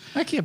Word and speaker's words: Akihabara: You should probably figure out how to pronounce Japanese words. Akihabara.